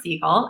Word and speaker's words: Seigel: the country and we're here with Siegel did I say it correctly right yes your